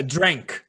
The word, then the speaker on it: drank: É drank. Na verdade, para ser mais preciso, a pronúncia fica drank.